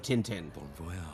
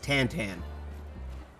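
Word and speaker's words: Tintin: So, are you familiar with The Adventures of Tinten? Yes. Do you know that's not actually how his name is pronounced? Really? So, in French it's pronounced Tantan.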